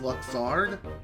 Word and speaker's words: Luxord: Almost sounds like I was saying mustard, but with Luxord. I think it's pronounced Luxard.